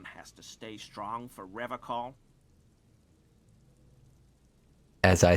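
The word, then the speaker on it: Revachol: I've been tempted on occasion, but someone has to stay strong for Revocol. As I say that, Kim raises his eyebrows further. He pronounces Revocol with a hard K, unlike other people.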